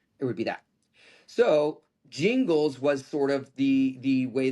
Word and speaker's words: Gingles: was basically under the Jingles test, which is a Supreme Court decision, Thornburg versus Jingles. It's spelled Gingles.